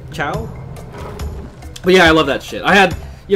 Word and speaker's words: ciao: do you say it I used to say towels that sounded stupid is how you say it ciao well yeah I love